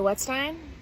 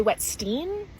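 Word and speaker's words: Wetzstein: name is wetstein wet Stein with a z in between the wet and the Stein and it pisses me off because no one knows how to say my name they say wet Steen but do you say Frankenstein whenever I ask someone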